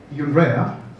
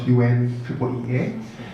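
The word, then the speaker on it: UNREEEA: UNREA is how we say it. It's not UNEEA.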